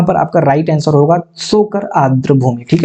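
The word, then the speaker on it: Tso Kar: तो यहाँ पर आपका राइट आंसर होगा सोकर आर्द्र भूमि। ठीक है, सोकर आर्द्र भूमिता यहाँ पर साइलेंट हो जाएगा।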